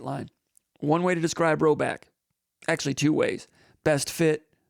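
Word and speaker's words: Rhoback: That's spelled ROB. RHO back. R H O B A C K. Rowback.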